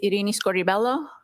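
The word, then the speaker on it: Irini Scordibello: My name is Arini Scorelloo. That's spelled I R I N I S C O R D I B E L L O.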